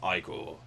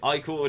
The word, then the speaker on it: ichor: This is pronounced Ichor. Okay, Ichor it is.